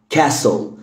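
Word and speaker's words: castle: عندنا كمان كلمه قلعه كاسل كاسل كاسل كاسل. واغلب الكلمات عموما فيها اس تي ال اي، التي ما بتتنطقش فيها اوكي. كاسل التي هنا مش منطوقه.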